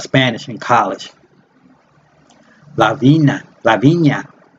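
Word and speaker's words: La Viña: a cup of Spanish in college La Vina lavinia it's big it's pronounced Lavinia Lavinia or English divine that cooler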